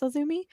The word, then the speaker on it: AZM: AZM was initials, and I did not realize it was pronounced Azumi.